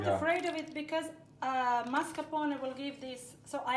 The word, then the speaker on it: mascarpone: Mascarpone, to pronounce it as a real Italian, and maybe you have noticed that both of us, we have this strong R, which means we are, in our languages, accustomed to pronouncing this R.